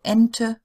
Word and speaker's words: Ente: Now, E at the end of a word usually does get pronounced. So no silent E as in English, but it is a short E. So Ente, Bohne, Frage. Not very long sounds, but they are there.